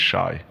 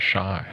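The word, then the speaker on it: شاي: Actually, the Arabic word for tea is shai. Really? That's how you say it. Yeah, right. Shy.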